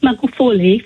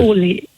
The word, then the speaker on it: Magufuli: Yeah, you did mention about President Magufuli from Tanzania. Oh, yeah. Firstly, I'm going to train you on how to pronounce his name. It's okay, go ahead. Magufuli. Yes. Okay, what it Magufuli?